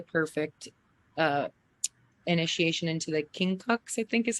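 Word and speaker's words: quincunx: this was a perfect uh initiation into the king Cox I think is how you pronounce it you know okay yeah like never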